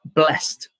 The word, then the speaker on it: blessed: T or D, then you could pronounce the ed as T. So here we have the last consonant as S. So we have blessed. So blessed, jumped. Okay, so you can stress that little T sound at the end and people will understand,